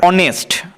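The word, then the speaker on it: honest: বসবে অর্থাৎ an hour অনেস্ট আমরা অনেস্ট উচ্চারণ করার সময় অনেস্ট বলছি অ হচ্ছে স্বরবর্ণ তো স্বরবর্ণের ন্যায় উচ্চারণ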